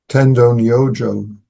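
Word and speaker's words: Tendō Nyojō: He was studying under the Chinese master Tendonojo. That's how you say the name in Japanese.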